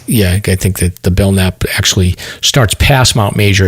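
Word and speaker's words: Belknap: of the belnap Range Trail yeah the B bellnap stomp that's how you pronounce it bellnap thanks yeah um they call it the Mount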